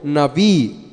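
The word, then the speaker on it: נביא: lugar Algunos creen que el término profeta que se pronuncia en hebreo navi viene de un verbo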